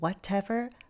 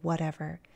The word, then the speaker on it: whatever: okay note with pronunciation when I say this word I flap my T that's typical of American English instead of whatever I say whatever it sounds like a d okay yes Manuel TBD